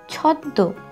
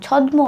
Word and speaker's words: ছদ্ম: প্রথম শব্দ ছদ্দ, ছ দয় ম, ছদ্দ। উচ্চারণটা কিন্তু আমরা ময়ের উচ্চারণটা ঠিক একটা বোঝা যায় না, ছ দয় ম, ছদ্ম হয় না, উচ্চারণটা করতে হবে ছদ্দ, ছ দয় ম, ছদ্দ।